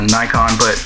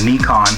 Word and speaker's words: Nikon: I know there's a rivalry going on between Canon and Nikon, or Nikon, excuse me. I gotta correct myself because there's a lot of people out there that want you to pronounce it correctly.